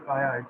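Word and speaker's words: CAIA: this viia the Kaya we used to call it as a Kaya not CIA which three pronounced usually pronounce globally is Kaya so the topics covered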